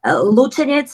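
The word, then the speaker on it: Lučenec: How do you pronounce that? Luceniec, it's my town.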